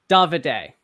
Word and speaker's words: Davide: okay, so David, right? Is that am I pronouncing that right? Davide. Davide.